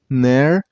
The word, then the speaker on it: canary: Canary. And while you pronounce the word, you also stress on the middle syllable. I mean on the second syllable.